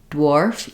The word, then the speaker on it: dwarf: can work on just when I do the d d my mouth is really getting ready for the W sound as my tongue is Lifting for the DU so if I start with a W Warf dwarf you can see that my lips are already rounded for that W as I'm saying